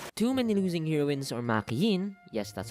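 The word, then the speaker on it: Makeine: Too Many Losing Heroines, or Makiin, yes, that's how you pronounce it, is one of the only 3 anime I've watched and actually finished from this year.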